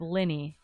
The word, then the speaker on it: Linny: some we have the pronunciation of Ben's last name we're going with Linny yeah Ben Linny Beast